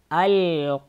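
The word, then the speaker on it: القارعة: Аль-кариа. Вот тут аль-кариату написано. И эта буква та, при остановке она превращается в га. И читается аль-кариа.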